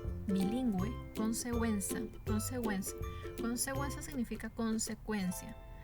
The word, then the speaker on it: bilingüe: en todas las letras bueno y por ejemplo bilingüe bilingüe consecuencia consecuencia consecuencia significa consecuencia ahora tenemos el